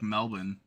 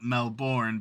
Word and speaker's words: Melbourne: It's spelled Melbourne, but it's Melbourne.